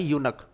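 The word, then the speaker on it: eunuch: आयशा, देखो इसका प्रोनाउंसिएशन होता है यूनक, यूनक, नाइदर मेल और नॉर फीमेल, तो यूनक के लिए आपको क्या लगाना है, ए लगाना है, इन द टेम्पल, और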